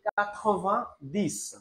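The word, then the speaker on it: quatre-vingt-dix: তাহলে আমরা 90 কে বলি কাথোভা দিস, কাথোভা দিস।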